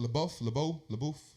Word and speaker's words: LaBeouf: LaBeouf.